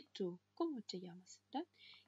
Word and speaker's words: llamas: «Como te llamas?» «Как тебя зовут?» Удвоенная буква L является отдельным буквом в испанском языке. И она читается как «эйе». «Эйе». Одинарная буква L читается как «эле», а удвоенная «эйе». И поэтому она всегда читается как «е» в слове «йогурт».